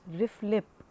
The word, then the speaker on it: RFLP: RFLP, commonly pronounced RIF-LIP, exploits the variations in the homologous DNA sequences.